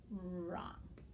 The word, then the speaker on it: wrong: the correct one so that would be the wr and i'm pretty sure you can read the word wrong already and then the ah sound and then that's our the ng for our digraph wrong okay all right good job